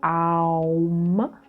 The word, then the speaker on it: Aum: So we don't say Om, we usually say Aum, so it's 3 syllables, 2 syllables, and humming,